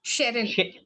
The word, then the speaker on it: Sherin: Ma'am, it's Sherin. Have I pronounced that correctly? Your name? Yes, yes, Sherin. Sherin. Yep, Sherin. yep.